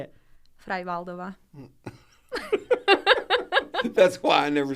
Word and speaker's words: Freivaldova: Freivaldova.